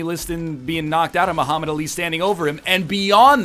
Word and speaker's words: Muhammad Ali: The cadence, like the emphasis is on the li, not the ah. You're going right through the syllables as if there's never a break between them.